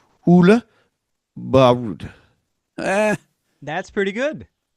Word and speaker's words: Børud: You want me to pronounce it? Yeah. My name is Oola. Last name Bud.